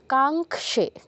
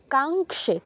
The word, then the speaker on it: কাঙ্ক্ষে: কয় হসন্ত তারপর স তাহলে কি কি হবে কাঙ্খে কাঙ্ক্ষে কাঙ্খে কাঙ্ক্ষে এগুলোকে বলা যাবে না কি কাঙ্খে কাঙ্খে দুটোই দীর্ঘস্বর কাও দীর্ঘ ক্ষেও দীর্ঘ কাঙ্ক্ষে তারপর উইজায়ং কৃষণ অনুস্বারের